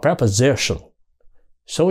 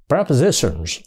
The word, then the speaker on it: prepositions: nha Họ đọc là preposition số nhiều thêm s vô và phát âm là Z prepositions prepositions rồi Giới từ